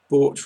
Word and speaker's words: bought: Bought, remember, rhymes with thwart.